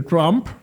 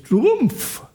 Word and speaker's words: Trump: Sí, a mí me molesta que se que todo el mundo dice Trump, aunque es Trumpf, porque él él tiene,